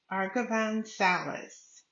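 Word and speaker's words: Arghavan Salles: Argavan Salas that's spelled Arghavan, last name Salles.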